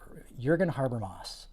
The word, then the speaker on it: Jürgen Habermas: It's Jürgen Habermas. Jürgen Habermas, I believe is how you pronounce it.